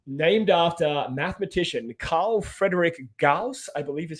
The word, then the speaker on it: Gauss: it's named after, and I'm not making this up, named after mathematician Carl Friedrich Gauss, I believe is how you pronounce it.